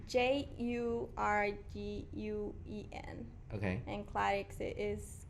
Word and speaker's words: Jurguen: Okay, you might want to spell that, or is that something? It's Jurguen.